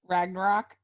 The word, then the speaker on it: Ragnarok: i watched thor i never know how to pronounce it ragna ragnarok thank you yeah and then the next night